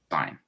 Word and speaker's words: sign: signature signature signature however sign so this is why can get confusing this is sign but this is signature okay um side nature